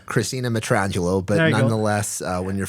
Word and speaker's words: Christina Matrangolo: the pleasure of dr christine matron uh coming to us if i if i've pronounced that correctly he he did not uh christina matrangelo but nonetheless uh when